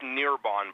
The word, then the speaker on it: Nearbon: The last name is pronounced Nearbon, by the way.